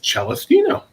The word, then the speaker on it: Celestino: I said Celestino, and he said that's actually the proper Italian pronunciation.